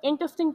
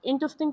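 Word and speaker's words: interesting: और second example is example phrase is that's an इंटरेस्टिंग point. But I count to argue that. अब यहां पर ये जो वर्ड है ना इसे इंटरेस्टिंग प्रोनाउंस करेंगे। इंटरेस्टिंग नहीं प्रोनाउंस करते।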